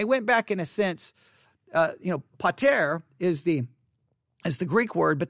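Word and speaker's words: πατήρ: Pater. Pater. Pater. pater. Now, I know I've said it probably 500 different ways, but pater is the correct way to say it.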